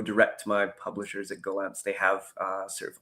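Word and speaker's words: Gollancz: Um or you can go direct to my publishers at Golants.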